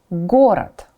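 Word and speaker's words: город: for that letter flock flock a longer word gorat gorat a city or a town gorat again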